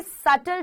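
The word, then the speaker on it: subtle: पर आप इसको करोगे बी यहां पर साइलेंट होता है तो आप पढ़ोगे सेटल चीज मतलब बारीकियां तो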